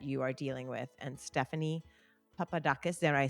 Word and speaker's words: Stephanie Papadakis: And Stephanie Papadakis, did I say it right?